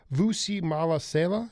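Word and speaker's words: Mahlasela: So you have to infuse the real but I want to talk about this cat, Vusi Malasela. Is that how you pronounce the name?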